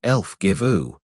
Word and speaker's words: Elfgifu: The Englishwoman, whose name turns out to be Elfgifu, pronounced Elfgivu, which the Romans immediately mangle